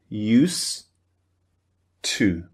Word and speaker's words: used to: the beginning of to these two sounds merge together in English. They almost become one sound. And what we do is we delete, we omit the du, the d sound at the end of used. So it just sounds like used to use to.